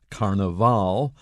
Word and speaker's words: carnaval: may hear carnival because in the language of brazil which is portuguese the last syllable has the accent in english if we use it to talk about an english carnival that's the first but when you are in latin america you will hear carnaval exactly the same meaning